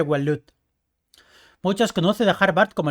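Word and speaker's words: Waloed: Es que ahora se pronuncia Walut.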